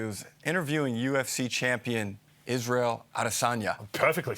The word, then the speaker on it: Adesanya: He was interviewing UFC champion Israel Adesanya.